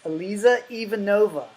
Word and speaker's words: Eliza Ivanova: name is Eliza Ivanova, right? Did I Yes, pronounce it right?